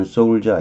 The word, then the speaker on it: soldier: 우리가 흔히 아는 soldier 아시죠? 일자가 발음되는 soldier 군인이라는 뜻인데 군인이 꾀병을 부리나요?